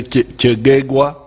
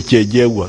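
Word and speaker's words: Kyegegwa: Don't be confused with these pronunciations. Some of the groups say Kegegwa, but Banyankwere with their double consonants, they say Kejegwa. So don't think that I've invented a new district.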